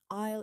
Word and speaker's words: aisle: Excuse me, which aisle are the baking products in? Aisle is pronounced ayul. The S is silent.